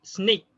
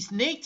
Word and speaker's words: sneak: So basically, that is how he sneaked in the train. He snaked in?